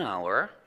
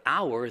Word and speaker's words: hour: a vowel it's an hour and in the word hour the H that you have in the spelling is completely silent you don't hear it at all so this word actually